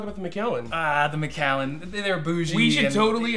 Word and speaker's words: Macallan: is good in the world do not say meline I had a kid who tried to sell me some Mallen and I literally wanted to take the seven